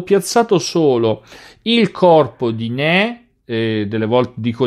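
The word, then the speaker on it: Ney: ottobre ma ho piazzato solo il corpo di né delle volte dico nei ma in realtà se vogliamo rispettare le pronuncia n e il corpo di riesch che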